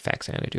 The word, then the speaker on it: Faxanadu: Famicom version of Xanadu, so it's Phazanadu. Although I believe Captain N, I think, called it Faxanadu, which is why a lot of people call it that. Plus, it also looks like it's pronounced Faxanadu.